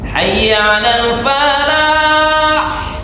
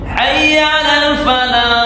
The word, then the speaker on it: Hayya Alal Falah: istilah kita di Indonesia hak yang di ha Alal Falah itu hak yang tempat keluarnya di tengah tenggorokan jadi bacanya atau lafalnya ha ha Hayya Alal Falah pakai ha yang kedua Hayya Alal Falah ah gitu Nah kalau sudah selesai